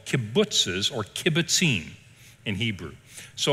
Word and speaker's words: kibbutz: communal establishments are called a kibbutz and that's how you say it you will hear that